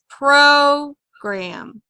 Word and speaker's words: program: We know that usually the first syllable is accented, so we'll put the accent symbol there. Program. Program. Okay, so when we say the first syllable is accented, we say it a little bit stronger. Program.